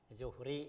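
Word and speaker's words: ظهر: Zuhri ya bacanya znya domma.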